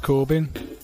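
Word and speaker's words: Corbijn: Anton Corbyn.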